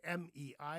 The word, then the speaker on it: mei: When you say M-E-I, you say mei.